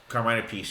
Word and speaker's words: Carmine Appice: Appice, is that how he pronounces it? Carmine Appice, yes.